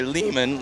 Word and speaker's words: Lehman: We're here today with Ari Lehman. Last name rhymes with demon.